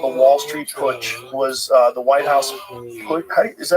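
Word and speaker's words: Putsch: The business plot called the Wall Street push was uh the White House push.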